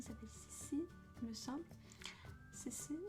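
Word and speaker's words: CeCe: Cici, enfin ça s'écrit C-E-C-E.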